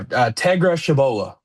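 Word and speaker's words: Tegra Tshabola: that we got on the offensive line was Tegra Toshabla. I think that's how you pronounce it. He's from Shabola. Tabola. Yeah. No, Tegra Shabola. Tegra Shabola. Well, that's how you pronounce it.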